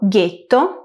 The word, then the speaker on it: ghetto: El sonido g español lo hacemos con g + u + e. En italiano lo hacemos con G + H + E, espaguetti, guepardo, getto, marguerita. Por último, el sonido g